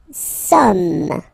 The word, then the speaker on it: sommes: Nous sommes, okay? Nous sommes, okay? So you don't pronounce the final S here. It doesn't exist.